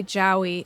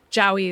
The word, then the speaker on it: Jowie: So I've been thinking a lot about why Jowie, I guess it's pronounced Joey, but I just can't get my brain to do that.